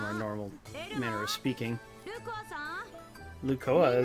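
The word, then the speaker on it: Lucoa: Lukoa, is that how she said it? I thought it was Lukoa. Oh, I think I remembered her name wrong. I guess it's Lukoa, my bad.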